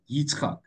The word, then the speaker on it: Yitzchak: So the answer that came to Avram and Sarah on their laughing was, you'll have a son and you'll call him laughter, Yitzchak, the Hebrew word for laughter, a year later.